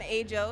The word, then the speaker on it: Ajo: I'm Ajo, it's spelled A-J-O, and I'm a singer-songwriter, burgeoning MC, as I like to say.